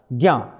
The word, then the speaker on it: ज्ञ: मिलकर के ज्ञ बनाया उसका उच्चारण होता है ग और य का उच्चारण ज्ञ यह कैसा है संयुक्त